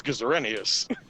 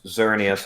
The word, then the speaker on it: Xerneas: name i'm sorry i i legitimately thought his name was geserenius no it that definitely doesn't ring a bell no it's xerneas i know why it's